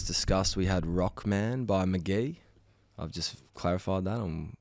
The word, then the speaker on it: McGee: his first release, 2018, I think it was, is called Pronounced McGee, spelt MCGEE. So I think you're right about that. That's confirmed, everyone. At PTA.listen, it's McGee. And then CZ, a song that takes me back to the Queensland hub.